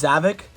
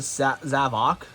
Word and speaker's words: Zavok: But as I was pulling down figures for this video, I did come across the Zavok, or I thought his name was Zavik, but people pronounce it Zavok.